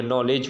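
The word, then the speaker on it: knowledge: का निकलने के लिए केक निकलने के लिए एन से जो पहले अक्षर आएगा केक के साथ वो हमेशा के क्या रहेगा साइलेंट रहेगा आगे लगा है आपका है पर के हम उसको साइलेंट ही पढ़ेंगे जैसे नो हो गया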